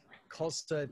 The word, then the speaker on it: Khalsa: So K-H-A-L-S-A. Khalsa. Right. Rhymes with salsa.